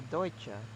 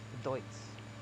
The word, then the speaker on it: Deutz: I think it's supposed to be Deutsche, but that sounds weird, and I'm a bit of a barbarian, so I call it Deutz.